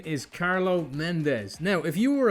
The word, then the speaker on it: Carlo: Is it pronounced Carlo or Carlos? Okay. So, um, my real name is Carlos, but my stage name is Carlo.